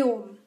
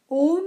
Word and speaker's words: Aum: Here, Om is spelled O-M. However, it should be spelled A-U-M.